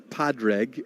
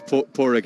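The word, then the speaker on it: Pádraig: well it's definitely not padreg and it's not Padre what is it the D is silent it's poor Rick Arrington no is he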